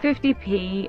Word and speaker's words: 50p: Hence an amount such as 50p, properly pronounced 50 pence, is more colloquially quite often pronounced 50p, FFTI, pi.